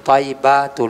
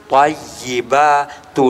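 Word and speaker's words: الطيبات: Attahiyatul mubarokatus shawatut thyibatul lillah. Jadi kita koreksi langsung. Maaf nak jadi bacaan yang benar. Attahiyatul mubarakatus shawatut thayibatu lillah.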